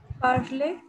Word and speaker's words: parler: uh, Tanya, how to pronounce this word Parler? Parley.